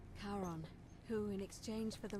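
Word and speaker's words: Charon: coin I see you described it only your pronunciation is a little off the name you heard wasn't Karen it was c h a r o n there you go as in Kon the Fairman of the Dead Kon Kon who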